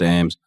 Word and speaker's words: Eames: at underscore e-a-m-e-s it's pronounced aims um but instagram is